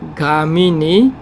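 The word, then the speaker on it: gāminī: Dukkha nirodha gamini patipada. Can you tell me how to spell that ka? GA. Long A.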